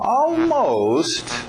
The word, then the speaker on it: almost: Almost, pensa no seu almoço.